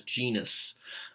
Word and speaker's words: genus: But we pronounce it as genus when we, just say it as though it's an English word. But it is technically Latin. It would have that hard G.